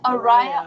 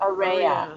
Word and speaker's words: Arayeh: AR is good yeah the way you pronounce like Americanized is good ar ar is Aria or ARA well really ARA okay I'll just think